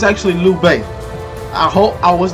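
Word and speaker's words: Lü Bu: a few moments later okay so it's actually lou bay i hope i was not missing for him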